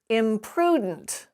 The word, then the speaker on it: imprudent: this word is pronounced imprudent the stress comes right before the d so we lose that vowel sound in between the d and the n but if you remove